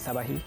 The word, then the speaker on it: sat-ba̍k-hî: Whoa, this is This is sabahi. sabahi. Yeah, like sabahi porridge.